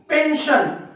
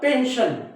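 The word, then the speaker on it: pension: आपल्याला काय भेटत असतं पेन्शन आहे ना तर बघा या एस नंतर आय ओ एन आलेला आहे आय ओ एन म्हणून या एस चा उच्चार काय होतो श होतो अजून बघा टेन्शन आपल्याला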